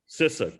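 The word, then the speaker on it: CISA: sissa or sisa what is your preference cesar cissa good that's how i like to pronounce it and that's that's now the official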